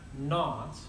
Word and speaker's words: naught: this little 0 and the pronunciation would be Delta H F naught means under standard conditions